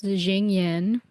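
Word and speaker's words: Xingyin: Um, I've been pronouncing this Jing Yin.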